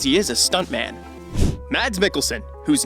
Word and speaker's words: Mads Mikkelsen: an actor as he is a stunt man mads mikkelsen whose name is apparently pronounced mads me kelson is an interesting actor who comes from a